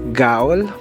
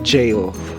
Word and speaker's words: Gaol: site Yes you're right akala ko dati ang pronunciation niyan is ga pero It's jail Hello travel people so Ayan tatawid na tayo